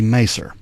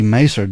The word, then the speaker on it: Maeser: This lady, her name is Nancy Maser. Mm-hmm. I guess that's how you pronounce her name. Her last name is spelled Maeser. Pretty close, yeah.